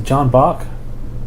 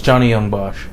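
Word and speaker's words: Johnny Yong Bosch: oh what will that guy yeah it's a John Bach close the first name is correct last name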